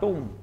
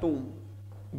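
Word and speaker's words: tomb: words written on अ टूम यानी जो शब्द किस पर लिखे जाते हैं कब्र पर इसका सही प्रोनंसिएशन होता है टूम बी साइलेंट होता है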